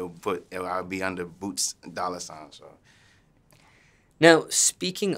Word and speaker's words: Boot$: I do hear boots they forget the S because because the dollar sign what it say boot I'm like telling those boots with the S dollar